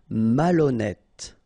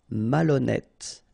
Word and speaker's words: malhonnête: Malhonnête. Okay, remember H doesn't exist, so malhonnête. Don't insist on the final E. Malhonnête. And here you get E accent circonflexe, so you pronounce it like E. Malhonnête.